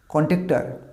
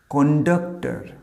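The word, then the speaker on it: conductor: কন্ট্রাক্টর না, এটা totally ভুল উচ্চারণ আমরা করি। এর আসল ওয়ার্ডটা হচ্ছে এইটা, দেখো ওটা, এটা কী বলবো? কন্ডাক্টর। শেষের আরের উচ্চারণটা সাইলেন্ট হবে, উচ্চারণ হবে কন্ডাক্টর।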